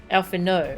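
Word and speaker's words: Alphinaud: do i pronounce it i don't know alpha no oh okay no d okay alpha no thank you you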